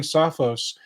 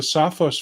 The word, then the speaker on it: Sophos: And if you're wondering why I'm saying Sophos, it's because that's how they pronounced it when I was on a phone call with them. Now, granted, I was on a phone call with a Sophos guy from the somewhere in Europe. So that's just how they pronounce it, though.